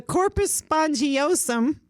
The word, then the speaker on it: corpus spongiosum: The corpus spongiosum, I think that's how you say it.